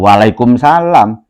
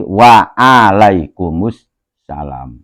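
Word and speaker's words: وعليكم السلام: jadi Asalamualaikum yo Ajo Waalaikumsalam tapi waalaikumus salam ya ainnya jangan hilang ya kadang-kadang kita masih sering mendengar itu ainnya enggak ada Asalamualaikum Waalaikumsalam ya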